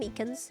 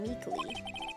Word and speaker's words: Meekins: Actually, Officer Meekins at the detention center told us. Oh, that poor little doggy. Poor guy, I keep getting his name wrong and calling him Meekly.